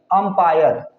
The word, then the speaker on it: umpire: इन दोनों में डिफरेंस है, इन दोनों के प्रोनाउंसिएशन में, साउंड में थोड़ा सा डिफरेंट है। UMPIRE, अंपायर, इसे हम अंपायर पढ़ेंगे।